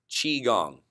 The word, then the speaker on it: Qigong: day it's on chi gong calm and that's is my last name Qigong has spelled qi gon G chi gong so at least you